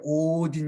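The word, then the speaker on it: ὠδίν: 헬라어로 오딘 이라고 하는데 아주 짧게 어디니 아니라 길게 오딘 이라고 발음합니다 내가 n 헬라어 알파벳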